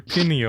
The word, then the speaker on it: pineal: Your pineal. Yep. Your pineal. Mm-hmm, Pineal mm-hmm. gland. Yeah. That's how you pronounce it.